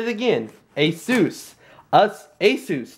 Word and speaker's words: Asus: This is the Asus G750 JH, the DB71.